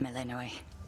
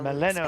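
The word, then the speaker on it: Melinoë: Time forced our hand, Melinoe. Nary a soul Melinoe. expected you to Okay, slay that's our how you enemy pronounce it.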